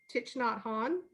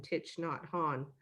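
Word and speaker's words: Thich Nhat Hanh: to this this guy i know i'm not going to say his name right but it's titch not ha titch not han yeah yeah i don't know if i'm saying that right they just call him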